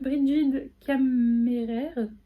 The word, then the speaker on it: Brigid Kemmerer: C'est de Brigid Kemmerer. Parfait, la prononciation, nickel.